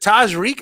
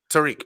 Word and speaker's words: Tajriq: And is it Tajriq? Am I pronouncing it correctly? No. It's Tariq, the JSI. Tariq.